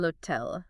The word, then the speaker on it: hotel: And speaking of sounds, the H in Spanish is silent. Oh, really? Yeah. So el hotel sounds more like el hotel. El hotel, okay. Think of it as like a stealthy H.